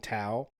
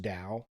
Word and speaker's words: Tao: am about 900% positive this guy is saying Tao but it's actually pronounced Dao I'm positive of that I mean okay I'm